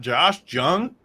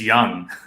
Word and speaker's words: Josh Jung: pronunciations watching those games this dude's name's not Josh Jung that's it's young unbelievable when I heard